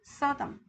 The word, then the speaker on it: Sodom: 그래서 소돔을 Sodom. 그냥 영어식 발음을 한다라고 생각을 해주세요.